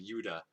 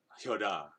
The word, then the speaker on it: Judah: More anglicized, like Judah. I'm not gonna go like Yuda, right? I and then of course that's not even how it's pronounced, right? It's a lot more like Yoda or something like that.